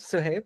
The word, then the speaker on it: Suhaib: Yeah, let's move on to the next speaker, which is, yeah, I hope I pronounced your name right, but Suhaib. Yeah, no worries. Suhaib, yes.